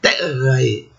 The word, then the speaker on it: terrae: Vejam a outra palavra, terrae. Esse final AE é pronunciado na pronúncia clássica, AE, separado.